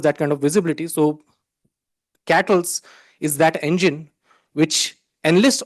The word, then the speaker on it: KTLS: The other interesting project that has been developed as part of QBarmer is KTLS, or it's pronounced as Cattles.